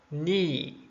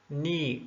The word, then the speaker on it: knee: w-r-i-t-e but w is not heard it's not pronounced also knee knee there's no ki comb comb talk talk wednesday